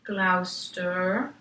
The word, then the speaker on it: Gloucester: he had left Glasgow and went to Gloucester Glouster pronunciation Gloucester with his two young daughters Charmaine and